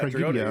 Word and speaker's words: Tragodia: Yeah, Tragodia. You said it right.